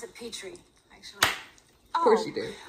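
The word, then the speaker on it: Petrie: Patrick you pronounce it Petri actually of course you do like the dish Verlander Island six doors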